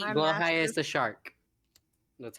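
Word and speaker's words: Blåhaj: I'm Blow high is master. the shark. That's how you're supposed to pronounce it.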